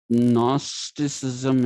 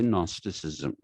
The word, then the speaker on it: gnosticism: in the modern period you don't pronounce the g that precedes an n if you write g n a r l you don't say gnaal you say null so similarly people say gnosticism and gnosticism was propagated